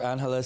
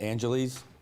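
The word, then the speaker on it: Angeles: In case you don't know where Anhala City is, it's the same one that when you guys pronounce it, Angelles, same place.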